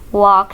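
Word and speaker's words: walk: वॉक slowly, वॉक slowly, इसमें L silent है। वॉक slowly.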